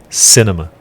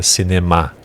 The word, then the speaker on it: cinema: inglês sc na então a ênfase está a primeira sílaba cinema em vez de boa português que é se neymar então se chama cinema